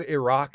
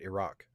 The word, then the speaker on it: Iraq: So yeah, David, I believe Iraq is also pronounced like that. Like I just said it. Iraq.